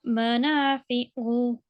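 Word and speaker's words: منافع: Yeah, and this is an ain, not a ha. So, Manafi'u. okay. So make sure you don't mispronounce the word, okay?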